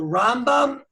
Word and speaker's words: Rambam: So the way they say is, you have the Rambam, you put the accent on the first syllable, then you have the Ramban, you put the accent on the second syllable.